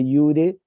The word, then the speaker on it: iure: Les digo que iure, la J se pronuncia I en el latín, como en el alemán, el polaco, el ruso y todos esos idiomas que no son latinos, la J es sí y en el latín también.